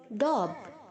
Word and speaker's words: daub: डॉब, डॉब्ड, डॉब्ड, इसको आप प्रोनाउंस जब करेंगे तो DOB जैसे प्रोनाउंस करेंगे आप, डॉब, DAUB, डॉब ऐसे नहीं करेंगे, डॉब, DOB, डॉब, ओके।